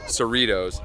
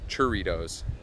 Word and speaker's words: Cerritos: these things we've heard it's Cerritos not churritos there's no h so unless you're English